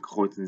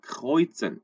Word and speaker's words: kreuzen: 여기서도 kreuzen Sie an, kreuzen, R, kreuzen 요 발음들. kreuz 그냥 단순하게 kreuzen 하는 거하고 kreuzen 하는 건 좀 다르죠. 요 발음 좀 주의하셨으면 좋겠고.